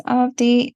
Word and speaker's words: Avadhi: The second A in the spelling is silent, so it's pronounced as Avadhi, and I'm the author of two books.